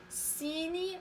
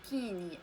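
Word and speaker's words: cygne: فهنا سي كتكون متبوعة ب إيغريك، إذا غادي نطقوها سيني ماشي كيني، ان سيني.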